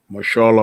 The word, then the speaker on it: Mahershala: I am very curious to see what Marshala Ali, I think that's how you pronounce his name. Yeah, Mahershala Ali.